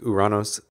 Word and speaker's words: Uranus: Seriously, people, could we at least agree to switch the pronunciation back to the Greek Uranos?